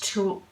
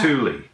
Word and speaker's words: tulle: And the colourway is vintage tulle. I can't say that word. Vintage tulle. Tulle? Tulle? Like on a... Thule. It's not Thule.